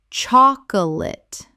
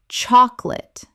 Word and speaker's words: chocolate: Common mispronunciation. Chocolate. Correct pronunciation. Chocolate. Only 2 syllables in natural speech. the middle vowel disappears entirely.